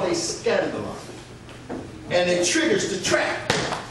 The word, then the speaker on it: skandalon: The Greek word for offense is called skandalon. It's spelled S-K-A-N-D-A-L-O-N.